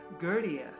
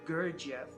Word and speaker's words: Gurdjieff: Gurdjieff, or as people mispronounce his name, Gurdjieff, taught that most people have about 50 eyes inside them.